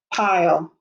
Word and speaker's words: pile: it i owe pile make sure you put the silent e at the end or it will say pill we want it to say pile p-i-l-e a pile of